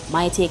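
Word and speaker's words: maitake: Some types of mushrooms are, cordyceps, reishi, lion's mane, my take or me take it, she take or she take it, whichever you want to pronounce it, portobello, which has an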